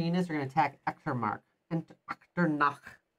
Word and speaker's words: Echternach: So these three infantry units are going to attack Echternach. Echternach. You don't know how to say it? I'm German. Echternach. So I'm pronouncing it correctly because I am the German.